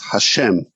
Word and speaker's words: Hashem: not have vowels and so it's pronounced usually a kind of euphemism so so what we're pronouncing it that you will often hear is hashem which means the name but there are other